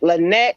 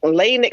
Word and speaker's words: Lanique: spelled it and I put the line over top the E to let them know it was Lanique, and they were like Lynette, Lanique. I'm like, no, it's Lanique, and they wanted me to spell it like you spell Monique. I said, no, she's different. She's gonna be Lanique with an E, and so yeah, it's just poor baby.